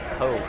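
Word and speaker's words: Pou: I don't know how to pronounce it. Yeah, it's Poe.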